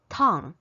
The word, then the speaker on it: tongue: 舌头, tongue, she said, think about a Chinese word a Chinese character 疼. So she said actually it's the pronunciation is kind of similar, but when you pronounce 疼 you should open your mouth wider.